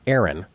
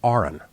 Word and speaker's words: Aron: It's not Aaron, it's Arin, right? It's spelled like Aaron, but pronounced like registered nurse.